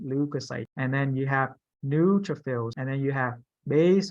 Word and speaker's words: neutrophil: new neutral feel so you put in the pronunciation on the second view like neutral fills okay so it's neutrophil it's the first letter nude so new yeah so it go